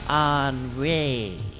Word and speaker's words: Henri: That's pronounced Henri.